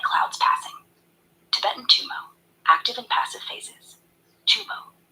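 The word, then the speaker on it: gtum mo: to awaken spiritual insight in Tibetan it's called G2M O pronounced roughly tumo rooted in the completion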